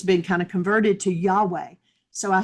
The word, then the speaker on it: Yahweh: kind of converted to Yahweh. So, I said, "Okay, so when you're inhaling, do the yah, and when you're exhaling, do the way."